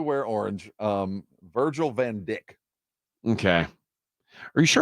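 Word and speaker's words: Dijk: an entirely different thing he spells his last name d JK how would you pronounce it it's not dyka like you would think Dyke in the classic sense but Virgil Van Dick he's a Defender oh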